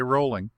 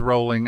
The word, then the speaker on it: Rowling: Rowling. And yes, I confirm that Ms. Rowling actually pronounces her name Rowling, not Rowling.